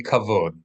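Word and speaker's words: כבוד: say respects or Renown so that would be cavod cavod k a v o d cavod Accent on the O So how do you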